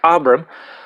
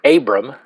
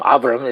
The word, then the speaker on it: Abram: verir today we're going to be looking at abam or as many of you have pronounced it Abram um abam is actually the more correct Hebrew pronunciation of